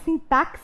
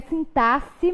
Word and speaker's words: sintaxe: fui apresentar a matéria foi o agente sintac e até mais bonito de se pronunciar mas a forma correta da pronúncia do tema e sintaxe mesmo então significa que sintaxe não tem disso né porque se tivesse x aí teria o som do que até mais chique mas não é a forma correta então